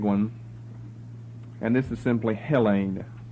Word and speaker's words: Hellene: and this is simply Hellene. Accent on the first syllable for the first time now. All the others have been on the last. Hellene, H-E-L-E-N. But all these, what look like N's to you, these are all long E's.